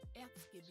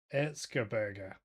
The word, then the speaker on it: Erzgebirge: How they pronounce? Erzgebirge. Sorry. Erzgebirge. So They beat Nuremberg in the second round, 2-1. Who are Hang on, 10th in the this Bundesliga. is how you pronounce it. Erzgebirge. Erzgebirge.